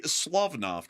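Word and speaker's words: Slavneft: It's called the Slavnoff refinery. Okay, Slavnoff. There we go. the other pronunciation wasn't quite right, but that's that's good to get a good correction on it.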